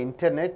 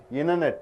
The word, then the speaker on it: internet: internet you don't say internet what do you say internet after NT comes T is not pronounced internet purchasing things and goods